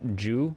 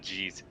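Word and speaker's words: 十: Do you know that 10 in Japanese is pronounced Ju? Be right back. Ju. It's not G's.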